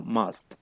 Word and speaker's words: must: siguiente que tenemos sería la palabra must que se la USA y pronuncia como si fuera como una O entonces para que tengan